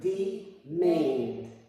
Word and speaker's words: demand: Notice that the E in the open, unaccented syllable is not as strong as it is in an open accented syllable. We might say that the E in an open, unaccented syllable is half long, pronounced as a long E, but not as strong.